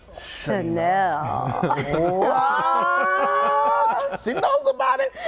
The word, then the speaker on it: Chanel: But it's pronounced Chanel.